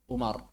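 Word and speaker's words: عمر: Kalau enggak ada wawnya, kita baca Umar.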